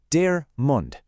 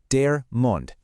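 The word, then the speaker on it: der Mund: Listen to that sound. Dare mund. And hey, take note of that article, dare. This is our first masculine noun of the day, dear mund.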